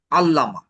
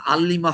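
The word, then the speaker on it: علّامة: এই এটা 2 নম্বর ফর্ম করব আমরা, তখন এটা হয়ে যাবে আল্লামা। ওটা তখন আল্লিমা হবে না, আল্লামা।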